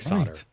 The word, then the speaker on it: solder: no one uses right like solder that's how you say that word so that's exactly so